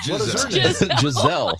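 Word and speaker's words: Gisele: Well, she's not Gazelle either. Jazelle.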